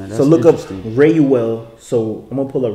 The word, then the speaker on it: Reuel: That's the only time it's spelt like that. Mm-hmm. There's also Reuel, which is Reuel, and that's what they put that for the Strong's is 87467.